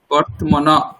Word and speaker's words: বর্তমান: জন্য ওটা হচ্ছে বর্তনা বর্তমান বর্তমান উচ্চারণটা একটু অসুবিধ হচ্ছে বর্তমান আগে ধরুন ব রয় তয় উচ্চারণ করুন ওয়ার্থ ওয়ার্থ তারপরে মনা মনা ওমনা ব্রহ্ম গচ্ছতি অর্থ